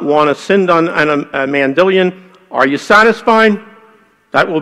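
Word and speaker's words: Mandylion: Why is it pronounced Mandilion instead of Mandelion? Well, I've heard it pronounced in a lot of different ways, but I guess when I got first acquainted with it and I saw Ian Wilson come in and make presentations on it, that's the way that he pronounced it, but I think it's technically a Greek word, I have to defer.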